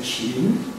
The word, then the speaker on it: Qin: it is these days it's romanized as Q-I-N, but it's pronounced as like your chin. You remember your chin, except you have to lilt it. So don't say chin, but you should say chin.